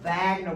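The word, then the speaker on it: Wegener: So these are evidence that what Wagner is pronounced Wagner with a V.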